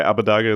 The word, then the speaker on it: Abbedagge: is a tangent already how should we pronounce your name okay Abu dhaga is completely fine to me yeah I love how